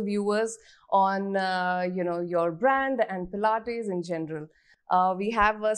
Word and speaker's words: Pilates: Has anyone ever mispronounced the word Pilates in front of you? Always. Yes. Tell us some fun ones. Plates. All the time. It's plates, pilates.